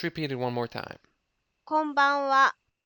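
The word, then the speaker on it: こんばんは: こんばんは。こんばんは。こんばんは。 Careful, the last bit is a particle, reads as wa and is spelled as ha.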